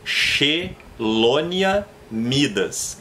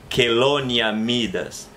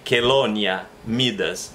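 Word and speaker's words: Chelonia mydas: Ele se pronuncia como que. Então seria Chelonia midas.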